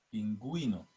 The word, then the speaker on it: pingüino: pero en ciertas palabras la diéresis marca la sonoridad por ejemplo ejemplo ungüento guero pingüino y ahí se escucha verdad la u la diéresis se escribe